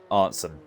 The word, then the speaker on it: Arntzen: Right, so Evian, you're telling me that Arntz's name is pronounced Arntzen.